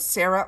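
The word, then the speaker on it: Sera: from the brand that is called Sarah Labs but it's spelled s e r a this is a cracked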